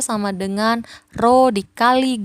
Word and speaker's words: rho: Massa jenis ini dibacanya rho, ya kan?